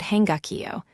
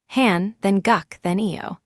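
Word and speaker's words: 한국어: On the right is the word hangakio which means the Korean language made of three blocks read left to right. Han then guck then eio.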